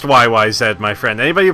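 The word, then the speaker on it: YYZ: the bass and vocals yeah oh it's pronounced YY said my friend anybody who pronounces it y Y Z is lying and the reason why is the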